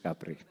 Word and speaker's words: Kapre: is kapre and i'm pronounced as mr capri thank you so last